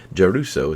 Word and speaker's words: Giarrusso: never failed me yet juso is how you pronounce it it's an Italian name and yeah is great